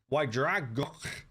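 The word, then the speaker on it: Y Ddraig Goch: Ydragok. This is a Welsh pronunciation.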